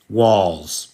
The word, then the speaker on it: Walz: Walls. Is it pronounced like Walls? Correct.